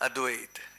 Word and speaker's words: Advait: the actual pronunciation is advait it is but we have a bad habit of pronouncing it with the ah have you heard somebody